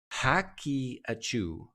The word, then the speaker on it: Haqiqatjou: Basically, this guy named Daniel, and thank you, someone told me how to pronounce his name. Engineer Pfizer. Fizzer. I've played poker with you, right? Haqiqatjou.